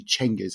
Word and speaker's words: Genghis: Well, as far as we can tell, because actually the more accurate pronunciation or rendition seems to be, and I dare say among Persian historians of the Mongol period, and it's actually Chengiz. It's a CH rather than a G.